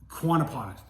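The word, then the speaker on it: Quannapowitt: I'm gonna bear with me here because even though I live here, I mispronounce it sometimes. It's Lake Quannapocket.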